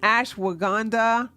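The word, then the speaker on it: ashwagandha: me put it in the chat so it's Ash waganda I always have a problem saying this I'mma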